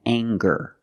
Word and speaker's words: anger: let's talk about anger we have the nasal um sound plus the hard G the G sound together and gur anger anger